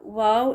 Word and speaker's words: واو: اس کو ذرا دیکھیں۔ The correct pronunciation of the Arabic letter wow is similar to the English word wow، جو ہم ایکسائٹمنٹ میں